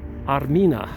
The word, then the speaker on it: Armina: to the name Armenia Armenia is used to be pronounced or said Armina Arina is the ancient